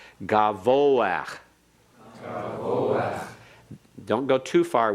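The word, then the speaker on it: גבוה: Because the second syllable is the only syllable that you can emphasize. You're emphasizing the last syllable because the pathic under the hay is a pathic furtive. There's a pathic Half vowel. Not a separate syllable. Right. Pathic furtive is a half vowel. And that's why we pronounce it ahead of the sound of the hay.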